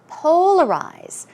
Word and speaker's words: polarize: okay what about this polarize polarize stress goes on the first syllable and some synonyms are